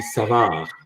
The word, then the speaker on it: Savard: If you're really bent on being as French Canadian as you want, that would be Savard. Okay. The D is silent. The D is never pronounced. It's Savard. Savard.